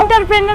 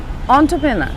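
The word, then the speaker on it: entrepreneur: কি বলে এন্টারপ্রেনিউর হ্যাঁ এরকমই তো বলে না এন্টারপ্রেনার এন্টারপ্রেনার এন্টারপ্রেনার এন্টারপ্রেনার বলে কিন্তু সঠিক উচ্চারণটা হচ্ছে অন্ট্রোপ্রেনা অন্ট্রপ্রেনার অন্ট্রোপ্রেনা এখানে তো ও ডব্লিউ দিয়ে শুরু হচ্ছে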